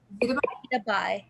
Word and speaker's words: Zita Bai: Is it Zita? Zita Bai, yes. Bai.